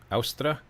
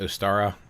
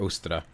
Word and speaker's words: Ostara: I think it's pronounced Austra. Some people call it Ostara, but I believe it's actually pronounced Austra or Ostra.